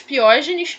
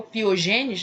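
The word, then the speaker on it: pyogenes: Dentro do grupo A, eu tenho os streptococcus piógenes, ou piogênes, né? Algumas pessoas se referem com a pronúncia dessa maneira, mas piógenes.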